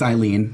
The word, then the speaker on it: Eileen: 10 days of shooting it's eileen not elaine what did i say